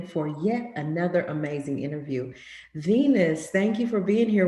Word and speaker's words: V3NUS: My name is Venus. That is spelled V3NUS, and I am a neo soul artist from Fort Worth, Texas.